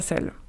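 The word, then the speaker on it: 四: Le chiffre 4 par exemple, il se prononce se en mandarin. C'est presque la même prononciation que le mot mort qui lui se prononce ce avec un ton juste différent.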